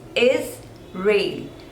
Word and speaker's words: Israel: Two syllables, Israel, and the stress is on the second one, rail, Israel, Israel, Israel.